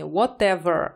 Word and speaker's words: whatever: не Whatever а WH Потому что если опираться на американскую фонетику то эта буква Т здесь смажений я вам порекомендовала обязательно прислушайтесь если вы будете выполнять данное задание прислушайтесь Как слово произносят актёры мужчины женщины быстро медленно конечно в британском Т будет звучать чётче в британском варианте но всё-таки Ever больше характерно Естественно для американского английского не для британского поэтому имейте это в